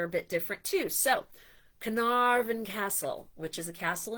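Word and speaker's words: Caernarfon: Uh, and so that is c a r n a r fo n which it would be k or narfen if you said it like an American but uh that's not how it comes together.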